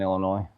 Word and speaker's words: Illinois: But the S is silent in Illinois, just so you know.